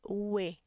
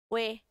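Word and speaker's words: 외: Porque se eu fosse ler isso daqui, sairia como som de we, né? Mas a pronúncia dela não vai ser essa. Vai ser também we. Ela é a nossa terceira, nosso terceiro som de we, tá? Ele é exceção, we.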